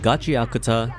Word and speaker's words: Gachiakuta: Gotcha is apparently the right way of saying it.